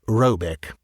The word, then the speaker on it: Råbäck: The manor-house, or herrgård, in question is to be called Råbäck (pronounced something like Roebeck), though that is not its name.